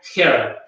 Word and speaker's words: her: Pero en inglés sí, y en este caso tratemos de pensar que esa H para nosotros sería una J, entonces sería her, ¿ya?